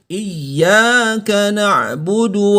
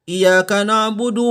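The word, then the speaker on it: إِيَّاكَ نَعْبُدُ: menggandakan bunyinya gandakan bunyinya iyyaka nabudu wa iyyaka nasta'in tidak boleh dibaca iyyaka nabudu WA iyyaka nasta'in kurang tepat yang tepat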